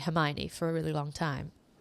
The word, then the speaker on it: Hermione: Potter as a 11-year-old I thought it was herion for a really long time because back then there was no social media no Google nothing right so I didn't know it was actually Hermione for a really long